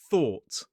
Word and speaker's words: thought: So, we have that or t thought. It's the same or sound that we see in door, law, saw.